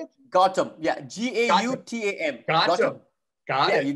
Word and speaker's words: Gautam: Gautam.